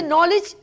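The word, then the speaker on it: knowledge: भी और भी जगहों पे हम कहते हैं साइलेंट है वर्ड जी हम जैसे नॉलेज हम नून से निकल रहे है लेकिन हम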